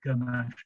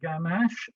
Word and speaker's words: ganache: g isn't it um people pronounce it gamash sometimes with the schwa ganesh but that's going to